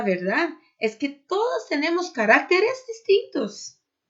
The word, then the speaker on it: caracteres: Caráter, caracteres.